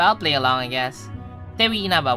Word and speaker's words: Tewi Inaba: Tewi Inaba with a silent W.